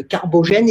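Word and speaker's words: Carbogène: êtes le dirigeant de carbo gène et ce que l'on dit bien comme ça je prononce correctement ou pas absolument voilà alors vous avez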